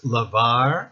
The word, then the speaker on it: lavar: use different letters Baron similarly the Spanish words Lavar and Rabia have the same sound in the middle but even though they use different letters in English anytime you